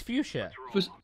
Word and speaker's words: fuchsia: It's fuchsia.